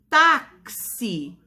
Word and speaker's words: táxi: Boxe e táxi. Olha o som, a gente pronunciando já sabe que a palavra é escrita com a letrinha X, mas quando a gente pronuncia, ela tem som X, X, C e S.